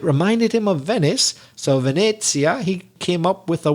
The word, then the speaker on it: Venezia: slightly altered version of the italian word venezia forgive my bad italian pronunciation venezia which in english would be venice because when the italian